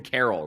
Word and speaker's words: Carroll: Well, I can't speak English today, but like Corbin Carroll, right? Like it's not spelt like Christmas Carol, but a Christmas Carol would count as. Yeah, I think it's name. homophone. Same pronunciation, different meaning or spelling.